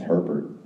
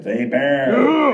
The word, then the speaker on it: Hebert: can spell my name everyone thinks it's Herbert bear there a bear a bear a bear the H is silent the E is like an a tell your friends what's